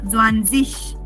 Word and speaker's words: Zwanzig: Remember, dig will not be dig, but dish. Yeah, like Zwanzig.